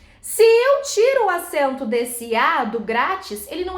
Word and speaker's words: grátis: eu fui comprar é grátis 100 graus ó grátis vamos separar isso em sílaba gratis como é que a sílaba tônica